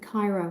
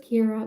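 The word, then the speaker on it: Ciara: Pyra was a huge one. Um, and Sierra. So, um, it's just Kira with a C. It's spelled the Irish way.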